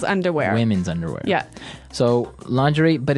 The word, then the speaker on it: lingerie: And the first one is lingerie. Lingerie. Lingerie. Okay. So, lingerie. This is a nice fancy word. Mhm. Basically for underwear. Right. Right. For women's underwear. Women's underwear. Yeah. So, lingerie, but it's very nice.